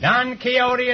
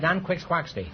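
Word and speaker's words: Don Quixote: character or character Sancho Panza Panza don kote don keyote is right until I was until I was 40 years old I pronounced that D quick quy and I have $1 15825 I prefer nqu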